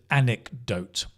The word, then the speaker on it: anecdote: not but it's an anecdote anecdote it's a anecdote anecdote stress is like on that first syllable like Saturday anecdote okay an anecdote is